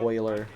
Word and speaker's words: Euler: Major props to Euler, if that's how you say it. It's almost like Oiler, like the Edmonton Oilers.